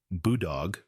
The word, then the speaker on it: Boodog: Boodog, pronounced Boodog, involves a goat being cooked from the inside out, a method that demands culinary bravery.